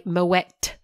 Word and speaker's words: Moët: And by the way, Moët, you do pronounce the T at the end.